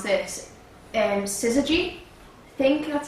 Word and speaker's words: Syzygy: See, the origin name with like Atari was originally called, I can't actually pronounce this, Syzygy.